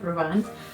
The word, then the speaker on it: Rouen: New pronunciation, not Rouen, Rouen, in France.